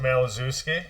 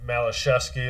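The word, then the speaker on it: Malaszewski: But they pronounce it Malazewski. Okay, a little bit different. Yep. Well, what we found out was his dad at some point in time changed the pronunciation. Malashevsky is the correct pronunciation.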